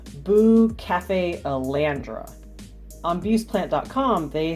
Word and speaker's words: Bucephalandra: bare, so I decided to splurge on some Bucephalandra.